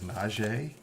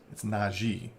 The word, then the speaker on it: Najee: wrong, because he's like, apparently everybody says Najee, and it's something that's kind of a sticking point for him. So it's Najee, and that's why there's two E's.